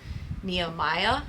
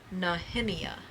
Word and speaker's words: Nehemiah: Nehemiah is how a lot of people pronounce it in English. But it is a Hebrew name and it is pronounced Nahheimeia.